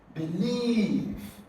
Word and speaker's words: believe: F refer option b believe here the second syllable is stress believe believe so you're going